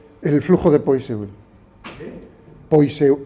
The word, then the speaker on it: Poiseuille: Poiseuille, bueno, como se pronuncia en francés.